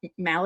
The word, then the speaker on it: Mahle: And Tyler Mahle, is that how you say his name?